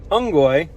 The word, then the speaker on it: unggoy: Somebody will laugh at that joke and you won't actually realize that you're learning and repeating the word unggoy. U-N-G-G-O-Y is the English pronunciation.